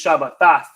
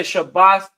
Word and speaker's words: Shabbat: pops up because they may pronounce this Shabbat. But I say Shabbath mainly because we understand the root word to be Shabbath.